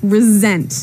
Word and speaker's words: resent: well Anthony said I resent that resent resent okay now this is spelled exactly like resent like with an S right re s EMT but you pronounce it like a Z resent resent that so what